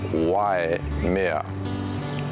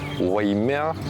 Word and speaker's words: Waimea: Now it's typically mispronounced as Y mea, but what they're missing is that I sound. So it's not Y as like the letter Y in English, but it should be Wai, Waimea instead of Waimea.